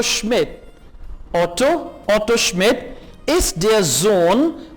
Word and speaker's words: Sohn: Auto Schmidt ist der Sohn, S को Z pronounce करेंगे, ist der Sohn von Herrn Schmidt।